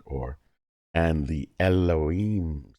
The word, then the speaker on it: Elohim: the Hebrew word Halloween I'm trying to pronounce but generally pronounced Elohim now in Hebrew anytime